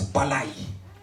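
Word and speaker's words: πάλη: Le mot lutter vient du grec palé, qui se prononce palai.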